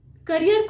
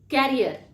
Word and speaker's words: career: Lastly, करियर को लोग कैरियर, जिसका एक्चुअल प्रोनाउंसिएशन हो जाएगा CARRIER। कैरियर, कैरियर का प्रोनाउंसिएशन है CARRER। और करियर, जो कि हम अपने अपॉर्चुनिटीज या अपने प्रोफेशन से रिलेटेड जो बोलते हैं, उसका स्पेलिंग है CAREER। तो इसका प्रोनाउंसिएशन है करियर।